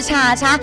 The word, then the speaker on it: 茶茶: 好，我是茶茶，就是茶碗真的茶，那也可以念成台语发音叫爹爹，感觉可